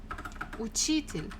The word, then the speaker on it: учитель: Next one, номер 4, учитель, учитель, учитель, a teacher, учитель, учитель. Again, second syllable.